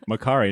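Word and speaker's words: Makkari: It's Makari, not and Mercury.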